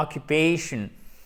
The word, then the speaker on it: occupation: Les mots qui se terminent en tion, comme attention, occupation, pour le coup, vous avez l'accent tonique qui est juste avant et on a toujours la diphtongue A, occupation.